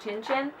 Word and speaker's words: Cin Cin: The first one is, I believe I saw something about it being pronounced Cin Cin.